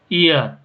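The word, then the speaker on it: heir: ईयर, तो देखो एच से शुरू हो रहा है, एच इज साइलेंट, तो यहाँ पे एन ईयर।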